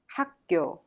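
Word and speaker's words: 학교: kaio is pronounced haku the final consonant kyok in hak the first syllable makes the soft k sound kyok in kyo and turns into a strong tension sound thereby pronounced hakkyo good job at this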